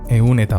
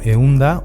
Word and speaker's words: ehun eta: Eun, eun eta bat, eun eta bi, eun eta laurogeita emeretzi. Puede que escuches pronunciar euneta como eunda o eunta. Esto se permite, es muy común, pero no en la escritura.